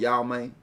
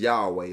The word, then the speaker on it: Yahweh: How you say it? Cause I'm country here. I know I'm gonna say it wrong. It's called Yahweh. Yahweh. It's Yahweh. Like say it's Yahweh.